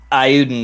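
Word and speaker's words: Eiyuden: I've been pronouncing Ayuden Chronicle. Ayuden.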